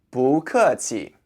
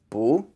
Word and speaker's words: 不: For the pronunciation, the first word is 不, spelled B-U. The B sounds just like the English B, so 吧. And the U sounds kind of like an English O-O sound, like boo.